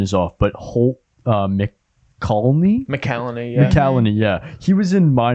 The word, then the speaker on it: McCallany: And even excuse me if my pronunciation is off, but Holt McCallany. McCallany, yeah.